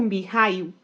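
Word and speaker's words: Mikhail: mais próxima do granduque Miguel ou mi rail como preferir pronunciar conhecido na intimidade como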